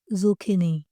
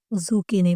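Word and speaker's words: zucchini: जुकनी जुकनी ठीक है इसे ऐसे प्रोनाउंस किया जाता है जखनी और यह सी यह काफ की आवाज देता है इसलिए इसे जुकनी पढ़ा जाता है आगे नेक्स्ट हमारे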